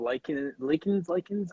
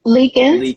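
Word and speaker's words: Liekens: Like, and this is like you work with Power Pilates, and you mentioned Bob Likens. I'm sorry, I always mix up the pronunciation. Leakins, Bob Leakins. Yeah.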